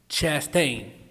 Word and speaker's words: Chastain: Chastain.